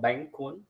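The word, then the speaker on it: Bánh cuốn: I'm making Bank 1 this is the right pronunciation for this dish called Bank kun yes if the Wi-Fi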